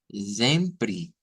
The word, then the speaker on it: sempre: Pero cuidadito con quererlo leer como que fueras siempre. Vean, no, el sonido va a ser un zen, sempre, sempre, sempre.